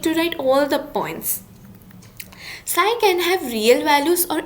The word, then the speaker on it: psi: It is denoted by a symbol psi, and the spelling is PSI. Okay. The P is silent, so it's known as psi.